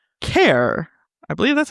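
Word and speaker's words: Keir: Kier. I believe that's how you say it. Mor's father. Kier. It's Kier.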